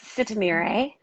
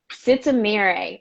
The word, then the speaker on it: Sitemere: think i slaughtered your last name can you pronounce it for me please yes sista mirei sitzamire okay got it it's it's amiri trisha said